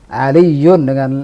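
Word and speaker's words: عليّ: Darrajatun dengan ra tasdid, fallah dengan lam ditasdid, aliyun dengan ya ditasdid. Nah, seperti itulah standar bacaan.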